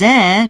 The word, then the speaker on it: heir: His heir chose to sell it to the local council.